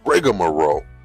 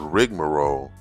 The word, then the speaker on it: rigmarole: I always heard it pronounced as rigomearo, but rigmaro is the correct way to say that word.